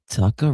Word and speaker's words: Tucker: Tucker rhymes with oyster shucker.